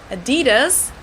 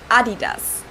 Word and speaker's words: Adidas: were referring to because they usually pronounced Adidas and in Germany we say Adidas Adidas Adidas well I guess you